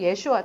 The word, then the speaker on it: 예슈아: 받은 사람이잖아요 율법을 나타내고 여호수아는 예수아고 발음이 똑같아요 여호수아가 예수랑 똑같아요 정확하게 읽으면 예슈아 똑같아요 예수님하고 호수아 이름이